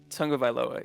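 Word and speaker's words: Tagovailoa: nailed down the the the beginning is like tongue supposed to be pronounced Tong of vioa yeah Tong OFA okay bet so let's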